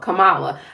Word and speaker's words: Kamala: Now they're saying that it's going to be Kamala.